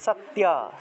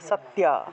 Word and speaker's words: সত্য: তাহলে সত্যা, সত্যা, এইভাবে উচ্চারণটা হবে। এটাকে চাইলে এই যে জফলার পরিবর্তে ইয় উচ্চারণ করবেন, মনে করেন যে সাত, সাত, ইয়া, তাহলে সত্যা, সত্যা, এভাবে উচ্চারণটা আসবে, সত্যা।